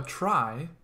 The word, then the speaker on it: trie: A trie, that's how this is pronounced right here.